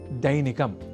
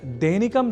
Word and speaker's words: दैनिकम: अब वाक्यगत अभ्यासार्थ अगला शब्द है दैनिकम जहां ऐ अक्षर का प्रयोग है। तो हम दैनिकम जैसे अशुद्ध उच्चारण ना करें।